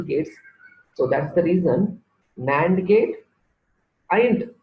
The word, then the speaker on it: NAND: kits nand gate and nor gate it is pronounced as nand and no so nine and nor are called